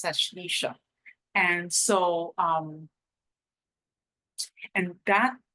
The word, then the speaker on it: Ashlesha: the L chatra of asesa ashisha depending on on your pronunciation mine may be off but it's ashisha and so um and